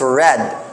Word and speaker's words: read: na siya read but it's pronounced as Red as in color red pag P for gamit